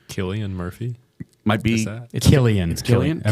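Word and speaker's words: Cillian: you pronounce Killian really it's a tricky one it's a hard C but I mean generally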